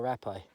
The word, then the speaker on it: rapé: you have some more rapper happy sorry happy pronounced rappe and um that's what